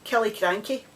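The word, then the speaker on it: Killiecrankie: had looked up and it's kelly cranky there you go imagine saying that you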